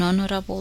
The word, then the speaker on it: honorable: However, the letter H is silent in a few words that begin with a vowel sound and is used before these words. Listen to the following examples: an honor, a honest answer, an honorable discharge.